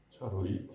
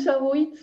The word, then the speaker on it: charoite: Comment tu prononces ça? Charoite. Voilà. Moi, c'est vraiment bien prononcé. Oui, enfin. Non, mais c'est ça. Avec toutes les réserves. Non, mais parce qu'en français, on dit charoite, mais en fait, moi, c'est charoite avec le